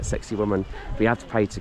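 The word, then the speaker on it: Sacsayhuamán: as sexy woman um it's not spelled like sexy woman but it's kind of pronounced like sexy woman we had to pray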